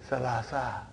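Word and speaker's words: ثلاثة: So that is why you have salasatun. But in pronunciation we will say salasa.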